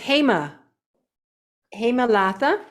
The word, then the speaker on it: Hema Latha: Let me tell you, and her name is Hema Latha, and I'm saying it properly.